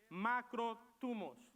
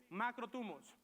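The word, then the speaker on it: μακροθυμία: nuevo testamento la palabra griega para paciencia es se escribe de la siguiente palabra de la siguiente manera es macro tubos dilo conmigo macro tubos cuando vayan a comer bien llegó a tweet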